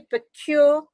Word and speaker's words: Pekeur: right let's correct your name I think I mispronounced it it's Sandy procure Sandy am I right perfectly done yes it's